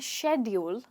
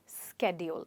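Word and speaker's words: schedule: और हमारा next word है, या तो आप इसे कह सकते हैं शेड्यूल या फिर स्केड्यूल। इसकी 2 प्रोनाउंसिएशंस पॉसिबल है।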